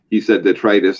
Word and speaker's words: detritus: I've been reading, and I've always pronounced it detritus. And to hear it actually, he said detritus, and I had to jump on Google because I thought he mispronounced it, but that was actually the proper way, and I was wrong all along.